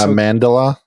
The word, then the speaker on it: Amandla: I'm gonna mispronounce her name, and I apologize because it kind of looks like Amanda, but it's got an L at the end of it. I just learned that. That's Amandla, I would assume, and Stenberg.